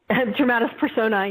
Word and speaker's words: dramatis personae: Dramatis personae? Dramatis personae, yeah, like persona, the character list.